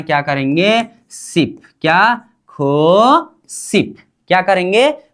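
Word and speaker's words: 구십: अब इसका उच्चारण क्या करेंगे, सिप, क्या, खो सिप, क्या करेंगे, खू सिप, क्या, खू सिप।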